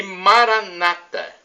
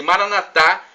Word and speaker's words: Maranata: evangélicos ou protestantes se Maranatha como dizemos nós católicos não são duas pronúncias diferentes nós católicos falamos com a tônica na última sílaba os protestantes com a tônica na penúltima sílaba não importa o significado